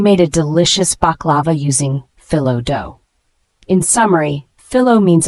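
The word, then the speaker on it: phyllo: used for aair and cream puffs the word fillow spelled p h y l l o is a noun fillow is a type of very thin pastry dough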